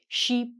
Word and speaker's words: sheep: Next up, again we have to be careful with our pronunciation because if you don't say the "p" on this animal, sheep, or if you say the e's wrong, I think you're saying ship.